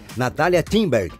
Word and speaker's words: Natália Timberg: Natália Timberg. O G é mudo, né? Mas o brasileiro tem mania de colocar uma vogal onde não existe.